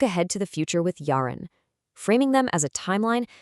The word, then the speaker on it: yarın: And looking forward, we have yarın, pronounced yarın, the day after today.